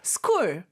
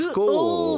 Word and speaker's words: school: 약간 목구멍에서 나는 소리예요.